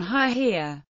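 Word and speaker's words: היא: in Biblical Hebrew and a knowledgeable reader of the biblical text would know to read the feminine pronoun haia another example of an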